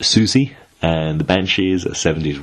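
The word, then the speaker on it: Siouxsie: The final one is from Sifu Lamas, who suggested, I think it's pronounced Susie, and the Banshees, a 70s rock band.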